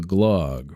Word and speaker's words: glug: I'm gonna have to reconsult the glug. Rhymes with grog.